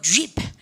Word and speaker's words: jeep: 지프 아니고 jeep. 아시겠죠? 그러니까 여러분 J 사운드 입을 쫙 빼, 쫙 이렇게 하셔야 되죠.